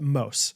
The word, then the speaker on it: Mose: I was driving to Indiana this weekend and Allie Mose, I believe it looks like Moose, but you pronounce it Mose.